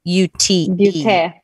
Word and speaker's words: Beauté: It's at Coco Beauty, but it's spelled Beaute. Beauté. Yeah, Beauté. Because Beauty it's was probably busy Croatian.